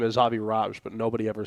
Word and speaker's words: Avi Raj: Technically, it's Avi Raj if we want to be specific with the Indian pronunciations, but nobody ever seems to get my name right.